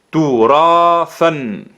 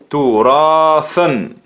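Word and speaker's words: تراثًا: Turathan. Turathan. Esa alif es la alif de gramática que sumamos cuando escribimos las dos fatha, las fathatan. Es la alif que se escribe, no se pronuncia, como le hemos dicho.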